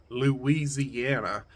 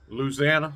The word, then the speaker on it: Louisiana: supposed to say it I know it ain't Louisiana I know that's that's dead wrong it's like Louisana South louisanna I don't know you can